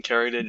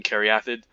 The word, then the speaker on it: Caryatid: There's also Elysian Caryatid. I used to call it Elysian Caryatid. No, I pronounced it incorrectly. It's Elysian Caryatid, which is an excellent